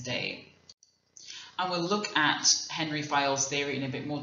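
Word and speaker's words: Henri Fayol: that they're managing now Henry file or Andre fiol which is his French pronunciation of his name he's a French professor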